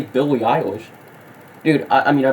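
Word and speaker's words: Billie Eilish: rock that you don't even know how to pronounce Billy ish what the you say Billy iish that's not how you say Billy iish dude I I mean I personally don't listen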